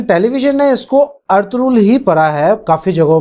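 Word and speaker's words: Ertuğrul: یہاں پہ لاسٹ والا جو آر ہے وہ سائلنٹ ہوگا اور ارطغرل بنے گا یہ، اور ای جو ہے وہ اے کا ساؤنڈ کرے گی۔ جو ہمارے پاس ٹرکش ورژن ہے اس میں بھی سپیلنگ یہی رہیں گے، لیکن اس میں جی سائلنٹ ہوگا، جی نہیں بولتے وہ، اس لیے وہ ارطرول بولتے ہیں، ارطرول۔ تو ہمارے پاس وہاں پہ جی سائلنٹ ہوتا ہے، سپیل وہی رہیں گے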